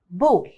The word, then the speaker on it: ball: A, which is followed by double L. يعني ال A لما يجي بعدها double L, it's pronounced as O.